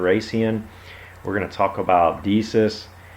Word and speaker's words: Decius: we're gonna talk about deesis Decius and I think I'm saying is around name wrong I think it's daysius actually it's kind of typical